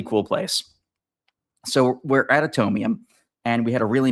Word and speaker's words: Atomium: It's spelled like Adam Yum. Oh my God. But Atomium.